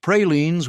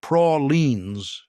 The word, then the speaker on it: praline: Pralines were a southern specialty, pronounced prolines, not pralines, and making them correctly required understanding humidity and sugar chemistry in ways that most northern cooks never learned.